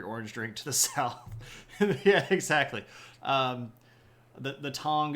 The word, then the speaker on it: Yi: groups in this region uh there's also the ye which is just spelled Yi uh who are